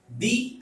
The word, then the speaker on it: the: उसका pronunciation द कब होगा, जब स्पेस के बाद कॉन्सोनेंट साउंड आएगा। इसका प्रोनाउंसिएशन दी कब होगा, जब स्पेस के बाद वॉवल साउंड आएगा।